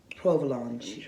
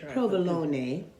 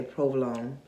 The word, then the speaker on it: provolone: I'm gonna try this wine with some provolone. Provolone. That's how you say it.